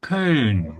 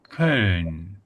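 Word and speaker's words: Köln: So, you know, Cologne with its English name, but in Germany, people say Karn. So, Karn is probably the first hard word to pronounce here.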